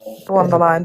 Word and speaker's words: Von der Leyen: from European Union countries, including Ursula, I can't pronounce the surname, Dal, whatever her surname is. Von der Leyen, yeah. Von der Leyen, there you go.